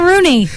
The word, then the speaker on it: Cironi: Cironi, everybody. Did I say it right? Cironi. Cironi. It's Rooney. Just Rooney.